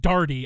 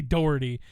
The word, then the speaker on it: Doherty: of the doherty cars actually it's pronounced darty i know this that's i don't know why they say doherty it's brad dardy is his name my dad went to